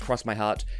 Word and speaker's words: X My Heart: my heart or ball it looks like X my heart but it's pronounced cross my heart predictably enough it's presented